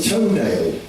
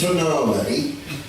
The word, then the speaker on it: Tonale: Oh, but yeah, they've got a car called the toenail. I know it's pronounced tonale.